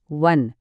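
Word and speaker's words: one: बघू वन rupee coin शब्द वन सुरू होतो ओ ने हा तर स्वर आहे पण उच्चार काय आहे? वन पहिला आवाज येतो व चा आणि व हा व्यंजन ध्वनी आहे.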